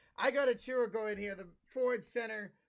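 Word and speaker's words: Achiuwa: We got Precious Akoru. Is that how you say his last name? No, not at all. It's Precious Achua. Achua. Jesus Christ. What was I saying? I got Achua going here, the forward center from Memphis.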